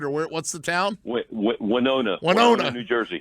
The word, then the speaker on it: Winona: Winona, New Jersey. Like Winona Ryder, but not spelled the same way.